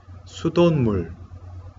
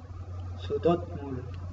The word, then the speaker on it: 수돗물: Sudonmul. Sudotmul. No, aquí, aunque tiene pachim siot, donde dot, en la segunda sílaba, dot, pero pronunciaríamos como si fuera pachim niun.